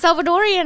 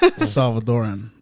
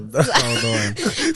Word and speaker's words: Salvadoran: Was Salvadorian. I was like, oh my, and like we became really close. I hate to correct you, but Salvadoran, you know, Salvadoran.